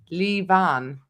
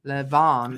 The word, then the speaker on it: Levan: been pronouncing it wrong levant is pronounced lee van rather than lavon leave on leave on